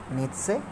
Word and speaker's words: Nietzsche: a third rich Friedrich Nietzsche so make sure needs say you know why is he famous he's famous